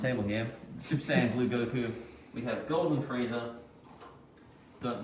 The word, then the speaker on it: Goku: It's Goku.